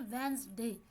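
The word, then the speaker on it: Wednesday: वेंसडे। तो वेंसडे में डी जो है उसकी साउंड प्रोड्यूस नहीं हो रही, तो ये क्या है, ये साइलेंट लेटर हो गया।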